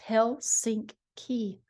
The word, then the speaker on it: Helsinki: Helsinki, pronounced Hell-sink-key.